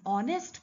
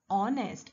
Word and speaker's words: honest: but the sound is honest h is silent over here that is why since the word is starting with a vowel sound we are going to use an with this word honest and mba listen carefully